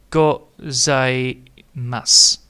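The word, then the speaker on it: ございます: So the su is again not spoken out.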